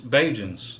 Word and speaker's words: Bajan: citizens of Barbados are also known as uh beijuns bajans okay and that word is a prep pretty much a localized pronunciation of the word Barbadian so there's a combination